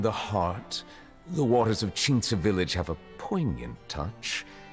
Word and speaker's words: Qingce: Damn, you said Qingce in such nice pronunciation.